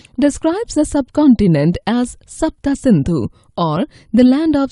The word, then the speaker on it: Sindhu: In their language, the S became H, so they pronounced the river's name as Hindu.